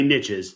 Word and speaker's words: niches: It's got to be niches, so it rhymes.